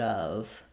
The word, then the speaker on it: of: Of is one of these words that often people mispronounce because of how it's spelled. It looks like it could be off or of or off. So we don't have the O sound or the F sound here.